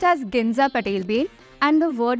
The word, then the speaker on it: Ginza: It's pronounced as Ginza Patel Bay, and the word means gold coins.